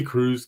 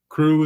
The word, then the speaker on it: Krewe: So I think despite the fact that it's spelled Krewe, it's probably a lot like we recognize crew as CREW.